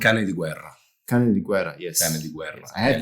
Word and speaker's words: Canediguerra: Canediguerra, yes. Canediguerra. Yes. I have that on my, but in case I mispronounce it again, that might not be very nice.